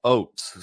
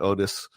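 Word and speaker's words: Oates: all the time so hopefully it's not Otis or something like that y you're good it's definitely oats uh I'm thinking I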